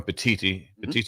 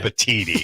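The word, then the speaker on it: Petitti: I say getting Go with Petiti. Yeah, not Petiti. I still was right. Petiti. Can you just say Petiti? Petiti. Yeah, there you go.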